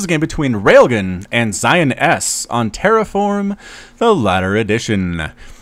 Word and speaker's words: XionS: the blue protos player Zion S I assume that's how I pronounced that but uh it's going to be with the X this the front that's a z like xylophone little English lesson for